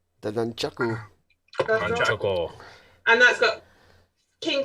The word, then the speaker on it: nunchaku: Nunchuck. The nunchaku.